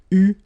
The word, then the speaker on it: eu: Okay, but you will have to pronounce it U. So remember, main difference or big difference between what you write and what you pronounce. So you write it like that, EU, but then you pronounce it U.